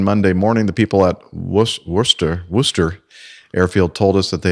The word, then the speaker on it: Worcester: Together with 4 passengers, Erasmus was scheduled to fly Monday morning from Worcester in the Western Cape to Nelspruit with a few stops on the way. That'll be Worcester.